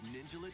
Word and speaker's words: Ninjala: The first part of Ninjala 2 is sneaking onto Nintendo Switch 2.